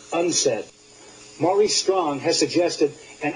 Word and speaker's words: UNCED: in rio de janeiro the acronym unced stands for the united nations committee for environment and development it is pronounced unsaid maurice strong has suggested